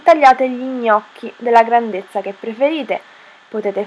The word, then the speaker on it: gnocchi: fare gli gnocchi gli gnocchi most difficult italian word to pronounce Ever gnocchi it Has the sound gn G gnocchi You can find a